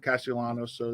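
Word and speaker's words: Castellanos: and then along with either chris bryant or cassiolano so that that was good uh so how do you pronounce his last name cassiolanos yes because that's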